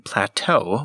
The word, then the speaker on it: plateau: skim across familiar ones Eau is a common letter combination that is derived from French it only makes the long o sound found in Plateau when it is at the end of a word a similar rule applies